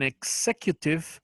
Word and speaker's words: executive: I'm an executive assistant. I'm an An executive executive assistant. assistant. Muy bien, excelente. La X, si se dan cuenta, también suena fuerte en inglés, ¿verdad?